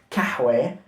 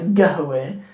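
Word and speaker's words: قهوة: I heard the word qahwa, meaning coffee, but pronounced kahwe. I heard it pronounced gahwe. I heard it pronounced a couple of other ways as well, all within one country.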